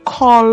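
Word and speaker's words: כֹּל: In the word kol, the Qamats is Qamats Qatan because the syllable is closed, ending in the consonant lamed, and unaccented, so it's pronounced as o.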